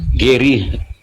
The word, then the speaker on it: Geri: Bang Gari. Bang Gari ini agamanya apa? Muslim atau nonmuslim? Geri. Geri bacanya, Kak.